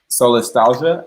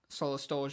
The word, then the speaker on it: solastalgia: So I assumed it's pronounced like nostalgia, solastalgia, because it means the feeling of homesickness when you're still home.